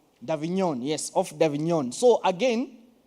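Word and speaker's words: Avignon: is that name people who understand French davinon yes of dignon so again there's the davinon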